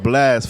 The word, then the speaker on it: Blxst: all platforms at blxst it's pronounced Blast for those who don't know but it's a x instead of why the X why the